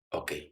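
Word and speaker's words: eau: ¿Cómo se dice agua? O. ¿Cómo se escribe? E-A-U.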